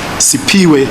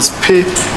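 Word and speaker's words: Siphiwe: A sixth witness called Sipiwe, or Spe, it's spelled S-I-P-H-W-E, could not compile any faces, but he mentioned that he saw an old green/blue sedan near the danger box.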